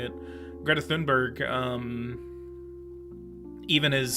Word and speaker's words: Thunberg: and even some climate activists even um Greta tunberg tunberg I don't think that's how you say it Greta thunberg um even is saying like nuclear power is